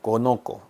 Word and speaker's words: conozco: conozco. 뭔가 conocer 쌍시오 발음이 사라지잖아요. 그래서 그거를 넣어주기 위해서 셋다가 삽입되었습니다.